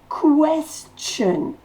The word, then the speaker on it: question: Question. Le T-I-O-N se dit ch.